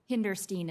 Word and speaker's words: Hinderstein: uh ms in and i've probably pronounced your name three different ways so give me uh um hinderstein is correct thank you interesting so